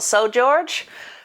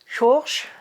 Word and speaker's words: São Jorge: What's it called? São Jorge? Jorge? I think that's how you pronounce it in Portuguese.